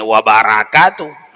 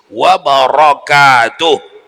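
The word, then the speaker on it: وبركاته: tetap masih bahasa Arab Tak boleh dibacanya wabarakaatuh mesti wabarakatuh Roro tapi tidak batal ya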